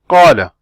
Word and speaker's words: قال: So you open your mouth as much as you open it when you pronounce an A in car or cat.